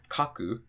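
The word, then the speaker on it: 書く: So for example, if we had kaku or dasu, so counting from the end, we have 1, 2, the drop is going to be after the ka.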